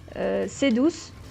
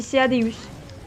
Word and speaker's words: Ceadeus: Et je vais encore vous trigger parce que je dis pas Cedus, je dis Ceadeus. Ou Ceadeus. Je prononce toutes les lettres dans les Monster Hunter.